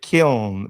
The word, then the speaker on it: kiln: Yes, Lucius is saying that the word is killing us, brothers. It's called kiln. Am I saying it right? Kiln. I thought they pronounced it kiln, but I heard people saying killin. No, it's kiln.